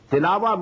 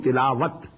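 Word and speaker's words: تلاوة: Tilawa means to recite, which we call in Urdu tilawat. In Arabic we have to pronounce it as tilawa.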